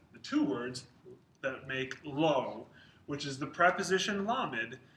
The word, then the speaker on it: לֹא: negation so we'll talk about the the word low which is more common than all the first thing to know is how it's spelled the negative particle low is spelled lamid